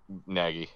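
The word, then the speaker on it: Nagy: well under Matt naggy naggy it's bet it's like naggy LeBron's with baggy or swaggy he actually did interview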